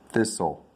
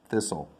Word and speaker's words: thistle: thorns on it we call it a thistle thistle not this dole rot thistle thistle not thicken not thirst and not thither that's some good words there